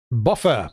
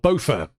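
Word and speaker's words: Bofur: one will be okay the next character is buffer or buffer because the film uses both pronunciations so I'm going to call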